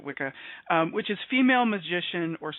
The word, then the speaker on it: wicca: I've looked up the etymology of witch and wizard, and witch is from Old English Wicca, or we pronounce it Wicca, which is female magician or sorceress.